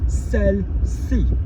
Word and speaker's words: celle-ci: Celle-ci, hyphen C-I, celle-ci, this one here.